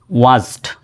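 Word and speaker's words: watched: এই ওয়াচ বানানে টির উচ্চারণ কিন্তু হবে না সাইলেন্ট থাকবে ডব্লিউ এ টি সি এইচ ই ডি ওয়াচড শুধু ওয়াচ হবে ওয়াচ এরকম বলা যাবে না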